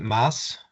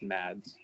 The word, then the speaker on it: Mads: Is it Mass? Yeah, thank you. Yeah, it's pronounced Mads.